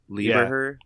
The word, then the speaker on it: Lieberher: It's Jaden Liberaire? Oh, Stuttering Bill? Lieberher.